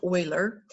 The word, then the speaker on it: Euler: get zero well there was a mathematician named euler euler it's pronounced euler and he kind of thought well well let's